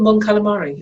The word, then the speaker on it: Mon Calamari: But the Mon Cal is the home planet of the Mon Calamari, Admiral Akbar's species, and the Quarren. So they share the planet, two aquatic species. They're really called Mon Calamari, as in calamari in squid.